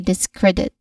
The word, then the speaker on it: discredit: So all in all we get um we try to put them together and say discredit focusing clearly on cred.